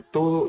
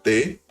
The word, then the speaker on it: te: La palabra te, teu, te, to, todos fonemas aproximados a la pronunciación clásica, significa eficacia, manera de conformarse a Tao.